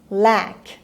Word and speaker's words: lack: lack. خب حواستون باشه مثل لک فارسی نیست، نمیگیم لک که نیستا. انگلیسی از فارسی یکم کشیده تر تلفظ میشه.